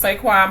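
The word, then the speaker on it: Saquon: phone that's fine so anyways um the Eagles sayquan Barkley is that how you say it yeah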